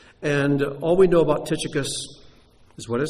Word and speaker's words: Tychicus: In Greek, it's pronounced Tuchikos. That's why we say Tychicus instead.